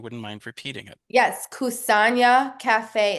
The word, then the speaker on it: Kusanya: Yes, Kusanya Cafe. It's spelled Kusanya.